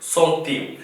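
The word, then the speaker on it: centime: 10 சென்டிம் என்று சொல்றது சில பேர் அதையும் இன்னொரு படி தாண்டி போய் 10 சென்டி என்று கூட சொல்லுவார்கள் அது பிழை அதாவது அது முறையல்லாத உச்சரிப்பு இதனுடைய சரியான உச்சரிப்பு வந்து சோ அதாவது ஊரோ சதம் இந்த ஊரோவினுடைய சதத்தை வந்து சொல்றது சொந்தீம் அப்ப இதே நீங்க போட்டிருக்கிறது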